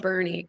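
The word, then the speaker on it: Boerne: out with is bernie i know that bernie texas is pronounced bernie because they've been here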